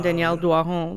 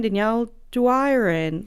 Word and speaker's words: Danielle Doiron: to, and I mean if people pronounce it English, that's fine, but it just would be so weird for me to be like, I'm Danielle Doiron.